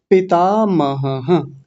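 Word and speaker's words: पितामहः: बोलते हैं मह थोड़ी है। मह तो तब होता है जब विसर्ग नहीं होता। अभी विसर्ग है तो क्या बोलेंगे? मह और वैसे ही यहां है पिता मह ऐसा बोला जाएगा।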